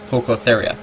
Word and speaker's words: Poecilotheria: um ornamentals polka therius we call them pokies because of the how you pronounce the scientific good name poke lotharia so the most expensive